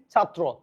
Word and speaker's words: ছাত্র: ভ আকার বা তালবস আকার ভাষা আমার কথা কি বঝ থাকবে এবার আসে ত রফলা থাকলে ত হসন্ত ত রফলা ওকার হয়ে যাবে যেমন আমি এখানে কি লিখছি ছাত্র হয়ে গেছে কি ছাত্র দেখেন তাহলে